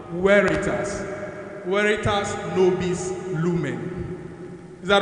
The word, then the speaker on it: Veritas: ITR so it's written on the board Veritas but we pronounce it what weitas weitas noes Lumen is